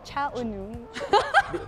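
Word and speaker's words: Cha Eun-woo: Cha Unu. Paano ba yung pronunciation?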